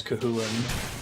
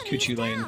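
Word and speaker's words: Cú Chulainn: Man, thank you Twitch for teaching me how to pronounce Kahulin. I thought it was Kuchulain for the longest time seeing it in earlier games.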